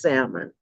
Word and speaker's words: salmon: I say salmon okay with my children correct pronunciation is salmon okay even though it does have a nail